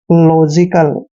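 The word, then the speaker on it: logical: आई सी ए एल यहां पर एल का उच्चारण हम ल करेंगे और ओ को ओ की मात्रा पढ़ते हैं और यहां पर जी का उच्चारण ज करेंगे क्यों जब भी जी के बाद आई आता है या तो जी का उच्चारण ज करते हैं और आई को हमने ई की मात्रा पढ़ना है और सी ए एल का उच्चारण कल करते हैं लॉजिकल ठीक है ना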